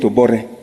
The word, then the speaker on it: Obote: Like when you're writing Obote, you call it Obore.